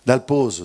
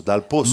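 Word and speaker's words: Dal Pozzo: E a pronuncia corretta seria uguale a pizza perché due vero saro maantri taliani dal pozo. Eh dal poso è errado perché se fosse dal poso teria só um s e non esiste susto avanti.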